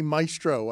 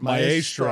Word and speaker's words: maestro: I have trouble with that word, and I never say maestro. I say it maestro. I spend it. I say it in Spanish.